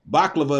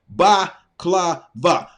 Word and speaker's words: baklava: I also know it has 3 syllables.